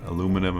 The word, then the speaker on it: aluminum: from the British Isles, I know it's properly pronounced aluminium. And in German we also say aluminium, but for some reason, you know, the Americans say aluminum, and I'm going to